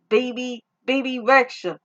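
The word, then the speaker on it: Bebe Rexha: So, I'm hearing that Reba Rexa, baby Rexa. It's spelled Bebe, then it's Rexa.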